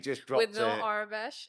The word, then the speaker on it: Aurebesh: Arabesh, is that the right way to say So it? Orabesh. Arabesh. Orabesh. So it's Aurebesh.